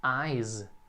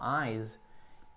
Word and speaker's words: eyes: por exemplo, a palavra eyes, também tem esse som de Z no final, eyes, e pode ser equiparado aqui.